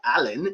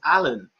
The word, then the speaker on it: Alan: said something he said no it's not allen it's alan a-l-a-n i said what now